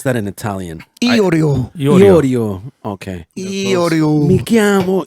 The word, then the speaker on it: Iorio: Like the Oreo cookie. Jeff. How do you pronounce that in Italian? Iorio.